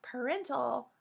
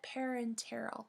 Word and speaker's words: parenteral: let's review parenteral dosages don't forget the extra syllable in this word it is not parental but parenteral meaning the medication is